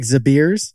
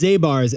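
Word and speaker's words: Zabar's: institution what's the one called like zabirs on the upper west it's zabars and we'll have to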